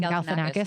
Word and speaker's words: Galifianakis: Galifianakis.